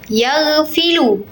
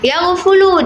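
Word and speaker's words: يَغْفُلُ: Apakah yagfulu ataupun yagfilu ataupun yagfulu ataupun yagfalu itu perlu pengucapan yang benar adalah yagfulu dengan fa yang berharakat dhammah bukan berharakat fathah.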